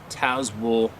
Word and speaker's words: Tazewell: I have lived in Tazewell, pronounced Tazewell County, Virginia, for the last 47 years.